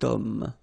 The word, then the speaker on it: homme: Remember, H is not pronounced, okay, so you've got the sound of O at the beginning of this word, okay, cet homme, so that's the reason